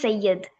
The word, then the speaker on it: Syed: It's pronounced Sayyid, actually. Syed.